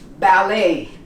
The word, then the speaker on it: ballet: Ballet. Many people say ballet. We don't pronounce the T in English.